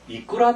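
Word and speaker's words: いくら: 다만 이제 기초에서 말씀드리긴 좀 못하지만 이것을 이제 발음을 할 때 이끄라 데스까 하면 안 돼요. 제일 앞에 있는 이가 굉장히 높습니다. 그래서 이끄라 데스까 이렇게 반드시 읽어야 됩니다.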